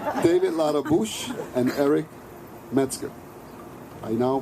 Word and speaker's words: Ladabouche: I asked him if he wanted the French pronunciation. He said no. David Ladabouche and Eric Metzger.